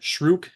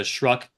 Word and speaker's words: Shruck: technical, his name is I pronounce it Shrook as opposed to Shruck, and his name is actually Korba.